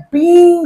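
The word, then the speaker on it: being: हमें बीन नहीं बोलना, हमें बोलना है बीइंग।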